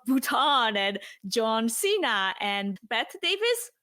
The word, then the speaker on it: Bette Davis: and John Cena and Bette Davis. Is that how you say it? Betty Davis. Betty, yeah.